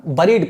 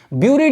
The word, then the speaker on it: buried: These may be found on the surface of the earth, buried नहीं पढ़ते, buried, ठीक है ना, बरीड पढ़ते हैं, ब्यूरिड नहीं पढ़ते, ठीक है ना।